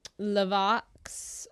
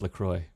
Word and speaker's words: La Croix: I study Lavox, the voice. It's pronounced La Croix.